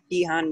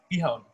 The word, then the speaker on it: bihon: Where does one purchase bihan noodles? So the... Did I pronounce that correctly? Bihon. Bihon. Yeah.